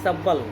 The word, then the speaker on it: subtle: सब्बल thief कहता है, सब्बल का स्पेलिंग होगा SUBTLE, सब्बल, सब्बल यूथ, सब्बल थीप